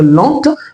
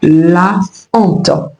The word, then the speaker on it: honte: On ne mettra pas ici un article et l'idée où elle apostrophe pour dire l'ente, mais on dira tout simplement la honte. La honte. La honte parce que le H devant ce mot est aspiré.